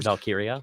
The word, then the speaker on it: Valkyria: Valkyria. Yeah, that's it. Thank you. Well, it could be pronounced different in wrestling.